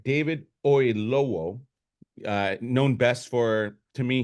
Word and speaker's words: Oyelowo: This is a new film starring Kaylee Cuoco, and we just mentioned his name, but David, let me pronounce this right, David Oyelowo, known best for, to me, he's Martin Luther King.